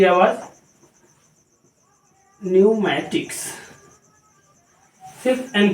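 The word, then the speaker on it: pneumatics: न्यूमेटिक्स, ये देख लीजिए, यहां पर पी की आवाज नहीं देनी है, सिर्फ एन की आवाज। न्यूमेटिक्स, सिर्फ एन की आवाज देनी है।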